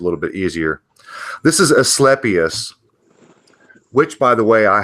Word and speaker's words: Asclepias: sorry is it pronounced Asclepius well whether you want to use a hard C or not semantics sweetheart well it's